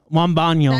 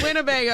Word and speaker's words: Wembanyama: Wembanyama. That big How do you guy? say his name? How do you say- Wembanyama. Wembanyama. Wembanyama. Winnebago. This motherfucker said Winnebago.